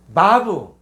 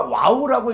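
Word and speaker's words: וָו: 해 바브 바브 자요 바브를 갖다가 와우라고 읽는 사람도 있어요. 그러니까 요거는이 언어 자체가 사기 때문에 이걸 갖다 바으로 하는 사람도 있고 와우로 읽는 사람도 있거든요. 그러니깐 바브 와우 해도 관계가 없어요.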